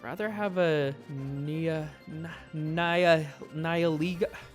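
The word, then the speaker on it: Nihilego: I'd rather have a nia na niiligo. I forgot how to say it already. Battled Niiligo. Niiliggo. There it is.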